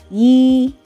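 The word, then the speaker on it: 一: try and to start yi yi this is the chinese number one it's a flat tone and that is it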